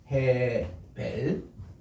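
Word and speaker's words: הֶבֶל: 이게 헤벨이라고 읽는데, 이렇게 헤벨, 우리 한번 따라할까요? 헤벨. 헤벨. 예, 이게 이제 헤이, 베이스, 라메드, 그리고 우리 스골 이렇게 해서 액센트가 위에 있는데, 우리 아벨이라는 이런 본래 히브리 말의 헤벨입니다.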